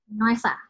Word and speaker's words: Noesa: Atau Nusa ya bacanya? Noesa, benar. Noesa, oke.